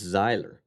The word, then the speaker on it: Zyler: Well, they just hear Tyler and they just go with it.